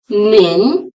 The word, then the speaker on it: 您: to pronounce nin wrong nin is pronounce with the second Rising tone n how is in